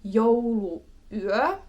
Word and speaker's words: jouluyö: So for example, one would be jouluyö. And because these are two separate words, you do have this little pause in between the U and the U.